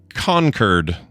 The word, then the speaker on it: Concord: Um and our state capital is Concord or Concurred. And we'll get to that in a second. She says it is pronounced conquered.